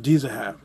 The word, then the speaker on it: Dizahab: Actually pronounced Dizahab.